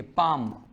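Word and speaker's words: palm: गया आस्क हो गया ना इसके बाद देखिए पाम लेनी बोलता इसमें एम से पहले ले साइलेंट रहता है ले साउंड होता है मैं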